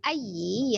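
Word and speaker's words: أَيِّ: Ya, pada saat pengucapan ayyi, ya-nya kan ditekan ya karena dia bertasdid, tapi nya tidak panjang ya. Atau tidak juga dijedah, i-nya dipisah dari a ya. Tapi langsung ya karena dia y-nya pendek ya.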